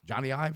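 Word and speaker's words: Jony Ive: Johnny Ive. Is that? That's how you say it.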